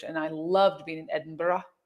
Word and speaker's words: Edinburgh: See, American would say Edinberg. It's Edinburgh. I I was taught that by Scots in Scotland.